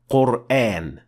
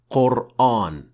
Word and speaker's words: Qur'an: the correct pronunciation is quran and not quran for a very simple reason in arabic letters are either full mouth or empty mouth these are the seven